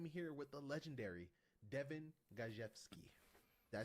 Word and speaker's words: Gajewski: And today I am here with the legendary Devin Gajewski. Did I say it right? Oh yeah, they're gonna talk about designing Raven. Devin Gajewski.